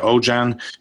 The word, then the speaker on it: Aujan: group treasury director at ojan group Holdings now ojan is that's the right way to say it